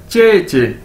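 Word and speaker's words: 姐姐: बार पढ़ें इसको, तो ये क्या बन जाएगा, चे चे। ठीक है, जे आई ई हमने देखा पीछे चे, तो अगर दो बार इसको पढ़ेंगे क्या बन जाएगा, चे चे।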